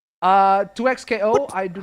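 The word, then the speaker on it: 2XKO: No, it's 2X KO, but everybody calls it Tukco like Tuko Salamanca.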